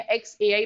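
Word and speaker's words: xAI: अब इसको जाई प्रोनाउंस करते हैं या एक्स एआई प्रोनाउंस करते हैं, that we have to सी।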